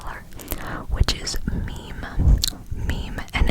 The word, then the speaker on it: Mim: thinking, like a funny meme that you find on like Instagram or something. I'm talking about it's just spelled M-I-M. Now some may pronounce it Mim. It is meme.